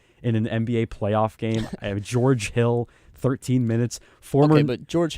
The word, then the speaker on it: George Hill: It rhymes with Storage Jill. So that's what he came up with. With George Hill, they gave him that contract after his first year with the Bucks.